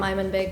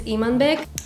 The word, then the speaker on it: Imanbek: know that i'm unbek i'm gonna just call him i'm in big because a lot of you don't know the kazakh way of pronouncing that name which is imanbig all of you know